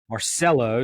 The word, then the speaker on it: Marcello: here and we are happy to have Debbie Marcelo did I pronounce that correctly you abound right yes nice